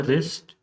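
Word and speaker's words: wrist: He wrap the रिस्ट, तो यहाँ पे रिस्ट में डब्ल्यू जो है ये क्या है, साइलेंट लेटर है।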